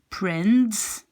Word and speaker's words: prends: So it will be, you will write like prends, but you pronounce it like prend.